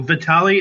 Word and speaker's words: Vitale: asking we also have a special guest Matthew Vitali is that how you would pronounce it yeah that's actually one of the